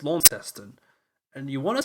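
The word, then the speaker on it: Launceston: but it's just Melbourne you want to say lawn Kon but it's la testing and you want to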